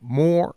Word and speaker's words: Moir: the word "oh" and I say Moir. That's just how it comes out, even though I know it's like 2 syllables.